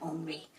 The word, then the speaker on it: Henri: "Bonjour, my name is Henri," he said, pronouncing his name Henri.